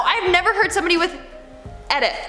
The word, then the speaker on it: Edith: Eric Neiman commented, "Edith is not pronounced with a hard E at the beginning, but with a soft eh at the beginning." Edith? No, I've never heard somebody with Edith.